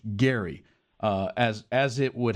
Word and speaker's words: Gerry: It is it was actually pronounced Elbridge Gary uh as as it would happen.